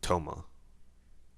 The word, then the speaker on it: Tama: I knew someone who pronounced it Toma. I think it's Tama though.